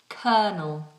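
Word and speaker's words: colonel: that's a strange word it looks completely different to how it sounds but it's kernel kernel why is the word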